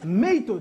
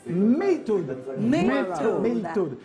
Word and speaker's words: MEIITOD: On reçoit Maytoad. C'est comme ça que ça se prononce. Maytoad.